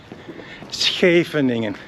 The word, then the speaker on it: Scheveningen: That's right, Americans or everybody who speaks English has problems to pronounce Scheveningen. Scheveningen, that's right.